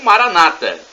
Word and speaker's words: Maranata: aquilo que você Pet e Maranatha do aramaico dialeto de Jesus ou Maranata com a tônica na penúltima sílaba como dizem os nossos